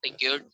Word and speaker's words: piqued: Our friend felt piqued. I charged Piqued only नहीं, 3 pies. listen. Piqued. Okay, you never pronounce ed.